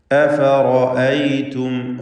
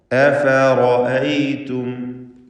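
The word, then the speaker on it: أفرأيتم: അഫറഅയ്തും റാഇന് മാത്രം തഫ്ഖീം കൊടുക്കുക. അഫറഅയ്തും അഫറഅയ്തും മാ കുൻതും തഅബുദൂൻ.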